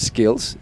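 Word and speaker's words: Schils: I think it's pronounced that. We might say Shills. It's kind of like schedule or schedule. Yeah. But I think if it's the Belgian way, it would be Skills.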